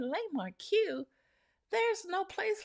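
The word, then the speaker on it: La Marque: And with our culture, the way it's spelled, you will say, yeah, it is Le Marque. And we kept saying Le Marque.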